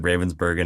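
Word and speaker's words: Ravensbergen: You said Ravensburgen, not Yes. Ravensburger. Thank you.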